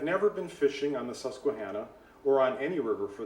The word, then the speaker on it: Susquehanna: The river, one of the rivers that runs through Philadelphia is and I grew up hearing it as Susquehanna, so that's how I'm going to pronounce it.